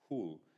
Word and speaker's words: HUL: the historical landscape Agronomy is hul which pronounced who we call ourselves The Hooligans which is and there's